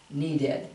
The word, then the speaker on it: needed: Okay, you're always adding an ED, but add the, and actually they pronounce it id, like instead of ed, needed. You can say needed, but usually most people will say needed. It'll sound like an id sound.